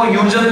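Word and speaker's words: Huygens: कुछ टीचर इसको ह्यूजन प्रोनाउंस करते हैं, ठीक है, अगर तुम भी प्रोनाउंस करना चाहो ह्यूजन ठीक है तुम्हारी मर्जी, पर स्क्रू गेज ही रहेगा गॉज नहीं होगा, ठीक है, वहां पर गलत है। यहां पर साइंटिस्ट का नाम है, किसी की जैसे मर्जी बुलाए, अलग अलग देशों में प्रोनाउंसिएशन एक्सेंट अलग अलग होता है।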